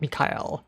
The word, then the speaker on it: Mikhail: names like Michael Mikhail not not Michael but Mikhail right that's that's how they pronounce it um so that coupled